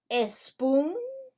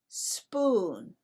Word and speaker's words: spoon: Do we say a spoon or do we say spoon? We say spoon. Why? Because we do not use the letter E as a help to pronounce the letter S when S is the first letter of the word.